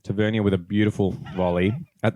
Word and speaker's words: Tavernier: to say his name Tavernier okay so on this pod we'll do miles pronunciation tavernia with a beautiful volley